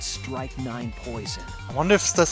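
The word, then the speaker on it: strychnine: I just looked at Strike 9, yeah. It's pronounced the same way.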